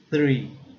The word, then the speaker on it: three: O número 3 é three, a árvore é tree, tree, tree, tree.